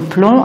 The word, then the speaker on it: plomb: se terminent par OMP comme plomb et on le prononce pas le B donc c'est peut-être des